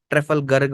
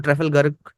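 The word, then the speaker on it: Trafalgar: ट्रेफलगर्ग बोलते हैं, ट्रेफलगर बोलते हैं, सबका अलग अलग प्रोनाउंसिएशन है। तो ट्रेफलगर्ग बोलेंगे हम इसको।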